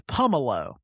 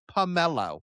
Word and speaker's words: Pummelo: Uh they're going to say pummelo, which I don't think is right.